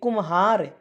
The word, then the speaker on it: कुम्हार: है ह र यानी कुमहार यानी यानी जो म बोलेंगे म का उच्चारण थोड़ा सा आएगा यानी कुम्हार ठीक है फ अट ब